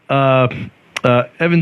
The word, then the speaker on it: Evan: He's a dev, and his name is Evan, I like but how it's not Devin.